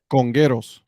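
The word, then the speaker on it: Congueros: annoying and then their copa brand uh the congarus correct my pronunciation there for me ed congeros congress thank you don't don't i need you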